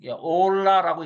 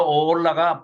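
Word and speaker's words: עולה: 여기 보면 번제 번제 올라라고 읽습니다. 이건 히브리어인데요. 뭐 이건 꼭 아실 필요는 없어요. 근데 이제 이게 번제 연기가 올라간다 그래 가지고 올라 그러면 절대 안 잊어 버릴 겁니다. 어올라 히브리어로 오올라가 번제입니다.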